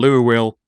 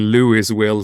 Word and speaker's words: Louisville: It's called Louisville. Well, it's spelled fucking Louisville, so why?